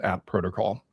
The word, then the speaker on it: AT Protocol: It's at protocol, which makes sense. It's the at sign, right?